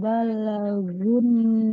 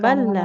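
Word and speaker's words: بَلَغُوا: talul yatama hatta idza balagun Jangan balla. nikah. Karena lamnya tidak bertasydid, tidak balla. Iza balagu.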